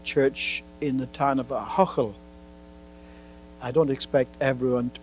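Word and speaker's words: Ahoghill: the First Presbyterian Church in the town of Ahochel. I don't expect everyone to be able to pronounce that name, A-H-O-G-H-I-L-L, Ahochel.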